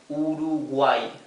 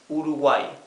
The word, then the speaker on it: Uruguay: end of a word okay so this is pronounced simply e like the I El Latina okay so this is read urugay urugay right okay so these are examples so you